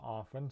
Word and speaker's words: often: like in castle and often some people say often but other people say it without the t um right so those